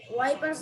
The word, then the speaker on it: wipers: এটা উচ্চারণ Wi- কিন্তু সবাই wi- মনে রাখবা, ওয়াই এর মতো উচ্চারণ করতে হবে, ইংলিশে ওয়াই, The ওয়াইপার্স। wipers হ্যাঁ, on the bus go swish, swish, swish all through the town.